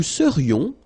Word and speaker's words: serions: Nous serions, final S not pronounced.